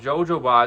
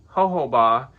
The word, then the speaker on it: jojoba: package, but I've been told that I've been pronouncing this wrong. Instead of called jojoba, it's called jojoba.